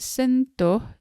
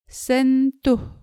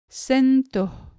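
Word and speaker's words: sentuh: to pronounce the word sento as in sentu the u here in the second syllable sounds more like o like in the word motif in english sento the next example is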